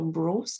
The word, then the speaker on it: Breus: C'est tiré du livre de la théorie du Dr. Bruce, qui est le Sleep Doctor américain. Donc, son nom de famille s'écrit Breus.